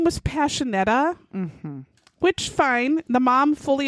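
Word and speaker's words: Pasinetti: But it's not spelled that way. It's spelled P-A-S-I-N-E-T-T-I. There's implying that you're going to do the sh sound. There's nothing that would make the sh sound there. There's not even any kind of a symbol.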